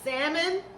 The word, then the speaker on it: salmon: How you say it? With the L or without the L? Without the L. Salmon with some confetti rice.